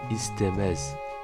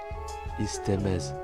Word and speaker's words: istemez: Le premier E se prononce E et le deuxième E avec le Z se prononce E. Istemez. Istemez.